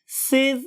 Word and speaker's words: sieve: तो पहली चीज है मेरे पास सिव एलिमेंट्स. सिव एलिमेंट्स, बहुत से लोग इसे सीव बोलते हैं, लेकिन मेरा ख्याल है कि सिव इज a more appropriate pronunciation as compared to sieve.